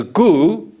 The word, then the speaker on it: Gu: My family name is Gu, and in Korean, the pronunciation sounds very same to the English words 9.